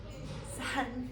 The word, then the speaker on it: صحن: We say صحن. Sun. صحن. Sun. صحن. Sun. Yes, this is the right pronunciation.